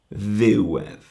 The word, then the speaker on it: ddiwedd: So ddiwedd, you can hear ddiwedd. The accent is on the ddiw, and the edd kind of just is the second part of the word. And the ddiwedd rhymes with fedd.